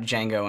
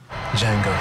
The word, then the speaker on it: Django: it's gonna be awesome Django the D is silent yeah I'll be curious how Jengo and Shane does because